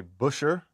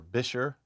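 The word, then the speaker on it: Buescher: As far as setup goes, this is my Busher, or Bisher, however you want to pronounce it, top hat and cane.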